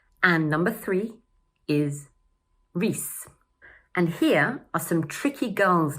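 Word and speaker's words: Rhys: Number two is pronounced: gray-um. And number three is: rees.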